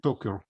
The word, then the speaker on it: Toker: So the Toker family, we pronounce it Toker, comes from Zeludok.